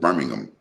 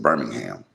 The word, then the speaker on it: Birmingham: Remember, I told you like I'm from Birmingham, and there's a Birmingham in England, but they pronounce it Birmingham. We pronounce it Birmingham, right?